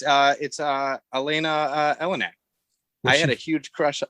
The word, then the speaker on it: Eleniak: Like, it's Elena Elenak. I had a huge crush, or Eleniak, I think is how you pronounce it.